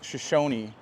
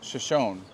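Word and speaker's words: Shoshone: okay so this town is actually called shishoni but apparently up north it's shonne uh so they pronounce it differently down here and it was actually the Native Americans that said Shashi but it is a shonne up north okay yeah so there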